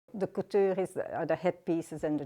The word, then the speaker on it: couture: The couture are the headpieces and the jewelry. I don't know how to say it the English way. I only know how to pronounce that word the French way. Couture.